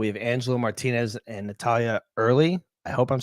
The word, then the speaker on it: Earle: he was pretty close it's Earl yeah like Earl New Jersey Earl Naval weapons station